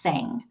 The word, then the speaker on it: SENG: gifted their acronym is a scng and it's pronounced sang so saying is a fantastic resource when my